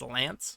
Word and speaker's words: Lanz: supposed to be pronounced lance so uh lanz i don't know if it's gonna be pronounced lance somehow but it's supposed to be lance in the japanese translation uh an ally of